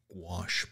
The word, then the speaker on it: gouache: Gouache is opaque watercolor if you've never used it. Gouache. That's how it's pronounced.